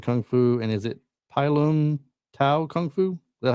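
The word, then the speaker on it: Pai Lum Tao: woou, northern shaolin kung fu, and is it pylum tao kung fu? Is that how you say it? Yeah, pylum tao.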